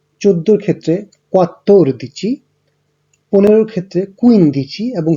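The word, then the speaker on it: quattordici: 12-এর ক্ষেত্রে উচ্চারণ হচ্ছে দো দিচি, 3-এর ক্ষেত্রে বা 13-র ক্ষেত্রে ত্রে দিচি, 14-র ক্ষেত্রে কোয়াত্তোর দিচি, 15-র ক্ষেত্রে কুইন দিচি এবং 16-র ক্ষেত্রে সেই দিচি।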